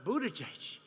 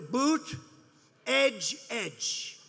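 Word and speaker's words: Buttigieg: saw them pronouncing uh buddha judge and they said here's what you do boot edge edge say edge like the edge of a building edge edge alfred newman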